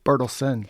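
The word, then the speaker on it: Bertelsen: Burlesen.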